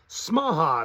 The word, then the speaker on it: Smaha: star is Clark smaha smaha it's kind of spelled like Omaha with an s in place of the O uh Clark smaha and